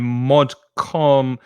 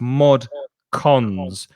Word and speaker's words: mod cons: Before this word, though, Eduardo's saying mod con. It's C-O-N-S, Eduardo. So it's mod cons, which is modern conveniences.